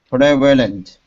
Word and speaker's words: prevalent: can say it prevalent it almost sounds like two s syllables when we speak quickly prevalent prevalent prevalent